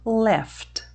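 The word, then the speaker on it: laughed: Então, no passado vai ficar pronunciado left. Mais uma vez, lembrando então que estamos falando do som e não da escrita, tá bom? Então, esse GH aqui nós vamos contar como se fosse um F.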